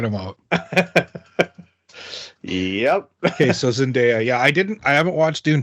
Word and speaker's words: Zendaya: Zendaya? Is that how pronounce her name?